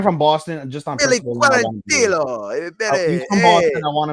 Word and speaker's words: Quarantillo: You're right, Quarantillo. You want to say it in Spanish, even though he's not really Spanish.